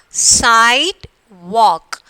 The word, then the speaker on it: sidewalk: How we are pronouncing? Sidewalk. We are not pronouncing the E here. So this is silent, this one. And here we are not pronouncing the L. Isn't it? Sidewalk. Okay, so which are the letters here silent? E and L is the silent letters.